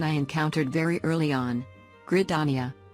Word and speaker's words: Gridania: encountered very early on grit dania although the fix for this one was pretty easy just needed to add one letter so it didn't come out like gridania which once again maybe some people say it like that but